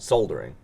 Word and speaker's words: soldering: Soldering. Soldering? Soldering? You Say really it call like- it soldering? Yeah. Is there an L in soldering?